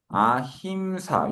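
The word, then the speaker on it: अहिंसा: 그냥 아힘사 요렇게 쓰면 되는데 요거는 그 m 발음이 이제 어 약간 변화되면서 m이 미음 받침이 아니고 그냥 콧소리로 바뀌서 아사 그렇게 되는 겁니다.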